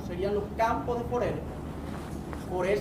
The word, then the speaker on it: Forel: Forel se escribe F-O-R-E-L, Forel.